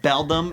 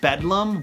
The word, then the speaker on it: beldam: doesn't even know that it's pronounced beldam instead of bedlam what is he an